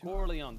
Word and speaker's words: Corleone: Corleone.